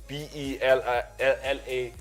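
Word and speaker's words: Belaïli: There's a player called Belaili. I'm not sure how to pronounce it. Belaili. That's how we spell it. It's Belaili.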